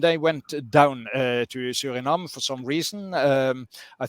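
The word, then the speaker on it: Suriname: South America and there was one colony called Surinam there uh I don't know how it's pronounced in in in in English but Surinam s u uh r i uh n a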